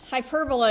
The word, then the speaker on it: hyperbola: hyp a good h a good uh hyperbola is actually the way you pronounce it but I mean it's a fun one to to mispronounce hyperbola it's not a hyperbole either no that's like one